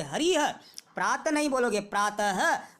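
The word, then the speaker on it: हरिः: जैसे हरि को शब्द जो लिखा हुआ है, आप इसे हरि नहीं बोलोगे, हरिह।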